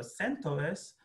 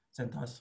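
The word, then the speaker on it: CentOS: کلاود لینوکس او اس و سانتوس یا سنت او اس، هر دوتا تلفظ رو من شنیدم، سنت به معنی کامیونیتی انترپرایز هست، او اس هم معنی اپراتینگ سیستم، ولی خب سنتوس سنتوس خونده میشه.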